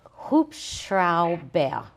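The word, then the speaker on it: Hubschrauber: and one more time walk you through it since syllable by syllable hoops shroud bear hoop crowd bear not that okay I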